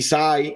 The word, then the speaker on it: Hysaj: sai non lo sai gli Sai si scrive hysaj con la y prima la Y dopo l'hys a J perché quello che è l'unico modo per me per ricordarmi che non è che dice sei come in inglese quindi si